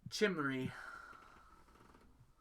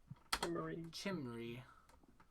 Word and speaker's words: Chimmery: Chimmery. Chim. And then there's a pronunciation for you. Re. I guess that'd be R-E-E, not R-E-Y. But Chimmery.